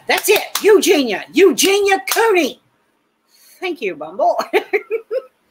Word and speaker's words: Eugenia: Eugenia, that's it. Eugenia.